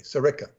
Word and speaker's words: Sirica: his surname is spelled s-c-a-l-i-a how do i pronounce that again peter no sirica s-i-r-i-c-a sarika are you sure okay well i was thinking